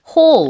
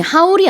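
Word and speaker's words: haul: 그래서 어 발음이 하울이 아니라 미국식으로 어 이렇게 H이란 발음이 비슷해요. 네. 근데 Hul 이렇게 씁니다. 그래서 많은 무언가를 이게 끌어들인다라고 해서 쇼핑 이것저것 많이 했을 때 인플루언서들이 영상으로 홀 어 이제 한국식으로 하면 하울 이렇게 올리는데 그 단어는 맞아요. 발음이 좀 다르다는 거.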